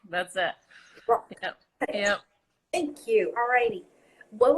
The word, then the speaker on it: Zdrok: So it's just how it looks. Zdrok. That's it. Zdrok. Yep. That's it. Just one syllable, just Zdrok. That's it. Zdrok.